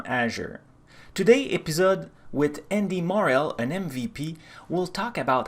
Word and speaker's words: Morell: Morell, I'm pronouncing your family name correct?